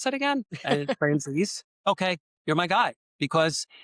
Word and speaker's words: Franzese: my stuff and say, "Huh, how do you pronounce that again?" And Franzese.